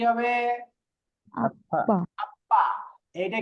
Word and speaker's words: 아빠: আপ্পা আপা, আপ্পা।